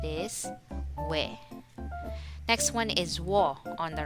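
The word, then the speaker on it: ㅝ: Next one is wo on the right side. Wo is a combination formed by adding u plus o. So we say wo.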